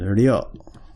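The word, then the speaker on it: りょ: But when I'm saying ryo, it's hard for me to not say it using two syllables. But for Japanese people, they would say ryo in like one sort of thing, one sort of syllable.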